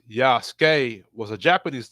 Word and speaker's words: Yasuke: Yasuke, pronounced Yasuke, was a Japanese name.